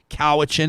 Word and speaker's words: Cowichan: you do say north kowa chin is that correct yes we do sir cowhitchin comes from a coast salish word uh coaxin which means